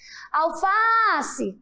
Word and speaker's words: alface: eu faço como seria alface né Qual foi a sílaba mais forte qual foi a palavra que mais foi esticada e já sabem é muito bem o fá Olha só alface isso